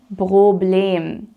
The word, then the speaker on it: Problem: the time is kein Problem. Kein Problem. Notice how Problem here is pronounced with a long E sound. So it's not problem, even though it looks like the English word, but it's Problem.